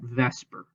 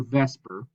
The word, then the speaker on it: VSEPR: as vsepr theory now everybody in chemistry pronounces that vesper so don't be surprised if you hear vesper and it really is